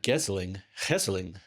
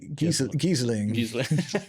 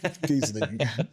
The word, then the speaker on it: Geseling: So, uh, yeah, you pronounced this and I think Americans say Giz Gizling. Giesling.